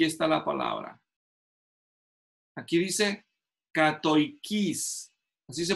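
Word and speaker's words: κατοικεῖς: Aquí dice, katoikis, así se pronuncia en griego.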